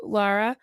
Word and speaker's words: Lara: word out, like you, Lara, I always say it wrong. Lara, I do Nora, too. Lara, Just think of Nora, Lara and Croft.